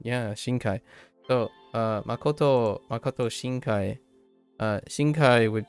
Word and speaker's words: Shinkai: Just realized my pronunciation. Yeah, Shinkai.